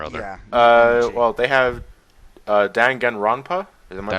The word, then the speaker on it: Danganronpa: Well, they have Danganronpa. Am I pronouncing that right?